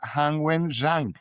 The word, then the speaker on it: Han Wen-Zhang: Con nosotros está Han Wen-Zhang. Creo que lo pronuncié bien, ¿cierto?